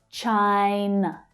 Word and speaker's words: China: The consonant sound is followed by the I vowel sound. I as in my. Chai. Chai. And then we have the final unstressed syllable. N. N. N. Unstressed. China.